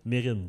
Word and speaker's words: Mesrine: Mesrine. Mérine. Ah, c'est comme ça qu'on le prononce? Je suis pas mal sûr.